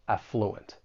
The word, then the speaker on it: affluent: You may hear both of these, but I think more commonly, people are going to stress that first syllable, affluent.